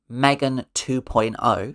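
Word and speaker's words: M3GAN 2.0: Megan 2.0, pronounced Megan 2.0.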